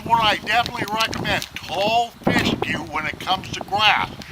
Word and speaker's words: fescue: F-E-S-C-U-E, like rescue, only Fescue.